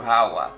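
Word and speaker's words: Häyhä: history i am okay they pronounce the y with you howa the dead is sniper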